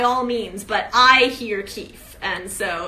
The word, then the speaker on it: Keefe: there's quite a large population of readers that pronounce it Keefy. And there is nothing wrong with that. If you prefer to hear it as Keefy, by all means. But I hear Keith.